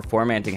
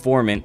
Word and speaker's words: formant: apply this to different genres that are more formating heavy it's actually pronounced formant but i call it formant shifting and i